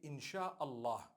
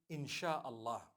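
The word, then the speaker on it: Insya Allah: s-y-a they pronounce it they pronounce the s-y the way we pronounce s h so they can write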